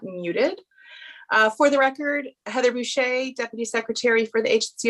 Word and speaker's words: Boucher: Yes, it's Boucher, like touche. It's perfect.